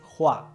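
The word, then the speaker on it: Hua: como es en cantonés la pronunciación correcta en mandarín es jua que significa flor el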